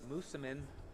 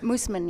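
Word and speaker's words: Moosomin: Um, I understand you're from Musammen, Saskatchewan. Did I pronounce that correctly? Musman.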